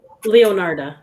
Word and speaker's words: Leonarda: how do you say your last name correctly leonardo leonardo okay all right welcome so let me